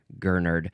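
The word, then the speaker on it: gurnard: So I had to go look up Gernard. Gernard. This is a noun from 1792. Uh this is any of several marine fishes that resemble gernards and have large pectoral fins allowing them to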